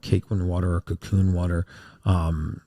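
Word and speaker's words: Kaqun: But there is a type of water called cakein water or cocoon water. Um, Dr. Lion's research is pretty water. What was the other thing called? Ken. K a Q n. It's pronounced cocoon, but it's K A U N.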